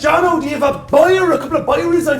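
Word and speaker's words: ビール: It's Byru. Very similar, very zero. Ah, Jesus, Jono, do you have a Byru?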